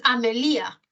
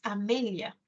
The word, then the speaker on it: Amelia: No es Amelia, ¿no? Es Amelia.